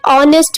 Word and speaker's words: honest: Honest में H silent.